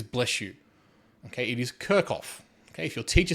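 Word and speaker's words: Kirchhoff: down here you do not pronounce it as kirchof if you pronounce it as kof all I'm going to say is bless you okay it is kirkoff okay if your teacher says kirchof slap to the face all right so anyway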